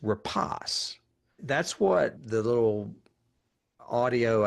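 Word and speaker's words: Rapace: I always used to call her rape, but apparent I looked it up and it's repos.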